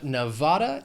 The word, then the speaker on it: Nevada: Next we have Nevada. It has 3 syllables, stress is on that 2nd syllable. Nevada.